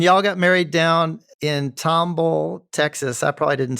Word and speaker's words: Tomball: And y'all got married down in Tomball, Texas. I probably didn't say that right. Yeah, Tomball, yes, sir.